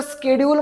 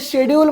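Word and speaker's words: schedule: तुमच्यापैकी खूप जण म्हणतील याला स्केडल म्हणतो आपण स्केडल म्हणतो खूप जण म्हणतील शेडल म्हणतो आता मॉडर्न इंग्लिश मध्ये प्रोनन्सिएशन बदललेल आहे याला आपण पहिले शेडल म्हणायचो आता स्केडल म्हणतो ठीक आहे डी य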